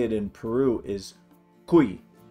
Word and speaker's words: cuy: it in Peru is Ki it's spelled cuy and it's pronounced kui that's not the typical